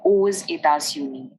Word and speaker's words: aux: And hence, to avoid vowel clash, we pronounce the X in this sentence. So we say aux États-Unis.